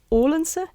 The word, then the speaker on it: Odense: He comes from Odense. Do I pronounce it right?